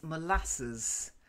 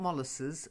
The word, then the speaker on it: molasses: the next one April is molasses not molasses molasses it's something we've taken from the Americans would take their pronunciation of it because we don't have well we don't use molasses that much so molasses okay good basically it's a